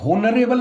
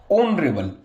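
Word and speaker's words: honourable: एन आ जाता है, क्योंकि होनरेबल नहीं है गाइज। ये होनरेबल होता तो होन रेबल ऐसे लिखते हैं हम इसको, लेकिन ये होनरेबल नहीं है, इसमें एच साइलेंट रहता है। ये तो क्या हो जाता है? ऑनरेबल, ऑन रेबल ऐसे लिखा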